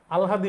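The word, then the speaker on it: আহ্লাদি: ভালো হইতে পারে এটা আলহাদি সম্পর্কে আহলাদি লেখা আছে কিন্তু উচ্চারণ হবে আল হাদি আবার লিখলাম কারণ এটা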